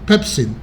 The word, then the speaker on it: pepsin: However, when the protective mechanisms of the stomach or duodenal mucosa are compromised, pepsin, sometimes pronounced pepsine, or pepsin is the most correct, of course, and stomach acid can damage the tissue of these organs, leading to ulcer formation.